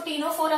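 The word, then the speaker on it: Ctenophora: इसको टीनोफोरा कहते हैं, सी साइलेंट है, टीनोफोरा, platy helminthes, ASCII helminthes.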